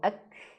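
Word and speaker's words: أكبر: Akan tetapi kalau dia sukun maka wajib ada angin. Contohnya gimana Ustaz? Contohnya ketika di kalimat takbir. Allahu Akbar Ak Akbar Allahu Akbar, nah gitu Allahu Akbar seperti itu.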